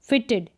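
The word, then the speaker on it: fitted: जैसे यहाँ पर इसको इड करके पढ़ेंगे, फिटेड, फिटेड यानी ई का साउंड आएगा, फिटेड, फिटेड, इड करके साउंड आएगा।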